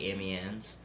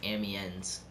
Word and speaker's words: Amiens: I always like, I'm in the middle of saying it the correct way, like Amiens. And then I like think of it how it's spelled. I try to do, like in my head, I try to do like Amiens.